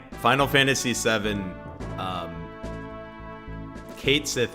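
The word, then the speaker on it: Cait Sith: See also, like, Final Fantasy VII, Kate Sith is like Kachi, right? Is like the correct pronunciation of that.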